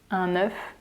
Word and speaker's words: œuf: Des œufs, un œuf, des œufs. So this weird looking letter, it's called le E dans l'eau, so the E in the O. It's pronounced E.